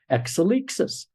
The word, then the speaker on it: Exelixis: finally came up with exelixis or as the Greeks would pronounce it exelixis exelixis means evolution in